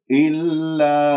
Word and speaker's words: إلا: فننتبه إلا أنفسهم، لاحظتم ما أقول إلا، لا تميل صوت الألف، لا تبتسم، لا تجعل هنالك ابتسامة في الشفاء، لا تسحب اللسان إلى الخلف، لا تجعل اللسان منبسط، اللسان مرتاح.